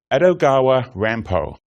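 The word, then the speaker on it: Edogawa Rampo: by the fact that if he pronounced his pen name quickly it is meant to sound like a Japanese version of Poe's full name grandpa began his writing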